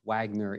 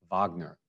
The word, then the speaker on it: Wagner: a wagner matinee because they don't realize it's richard wagner and he was german and it wasn't pronounced wagner it was pronounced wagner but he's he's purely